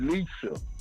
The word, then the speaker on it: Elisa: Yesterday, y'all couldn't pronounce my wife's name. It's Elisa.